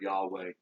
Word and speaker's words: Yahweh: Sometimes people will say Jehovah, Jehovah or Yahweh, different pronunciations of the same four Hebrew characters.